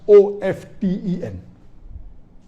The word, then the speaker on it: often: Some will say often, some will say often. Previously it was often, then it became often. Now new people are saying no, often is correct. T is not silent, it should be pronounced.